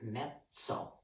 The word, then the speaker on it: mezzo: word another one that we use and it's pronounced as mezzo m-e-z-z-o lots of times you hear the term medium mezzo piano or mezzo forte or medium piano in medium 40.